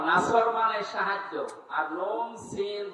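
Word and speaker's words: نصر: নুন সোয়াদ র নাসর মানে সাহায্য, আর নুন সিন র নাসর মানে ইগল পাখি। এখানে তেলাওয়াত যখন করবেন সোয়াদ উচ্চারণটা মুখ গোল করা লাগে।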